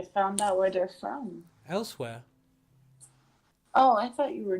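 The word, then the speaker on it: Elsweyr: Elsewhere. Oh, I thought you were joking. What was that? It's No. it's spelled funny. It's Yeah, so ELSWYR. Like that's not how you spell elsewhere.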